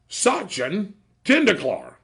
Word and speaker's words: Sachin Tendulkar: You know how to pronounce his name? No. That would be Sachin Tendulkar.